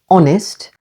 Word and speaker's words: honest: in some English Gardens H is always silent at the beginning of these words only air honest with the stress on the first syllable honest and our remember H